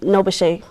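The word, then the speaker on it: NOBCChE: awesome so you mentioned nabash I believe you pronounce it is that the NB B CC e well it's um noash no n CC h e um those acronym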